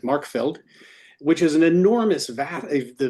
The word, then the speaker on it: Marchfeld: call the Markfeld, or in English it looks like Marchfeld, but they pronounce it Markfeld, which is an enormous it's not the vasty plains of France, it's the vasty fields of Austria.